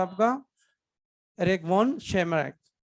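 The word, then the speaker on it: Tschermak: Eric von शेमैक। T silent, Eric von सरमैक नाम बोलते हैं।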